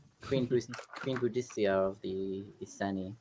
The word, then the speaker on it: Boudica: This is I'd the rather have story a of Molotov Boudicca, right? cocktail to throw than a spell. Queen Boudicca of the Iceni. Boudica.